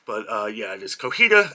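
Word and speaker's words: Cotija: I was pronouncing it Cojita, but yeah, it is Cojita, as the J has an H sound.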